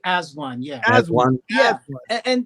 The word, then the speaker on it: AZ-1: a a group called az1 and that's what was how it's pronounced right it was actually as one yeah as one yeah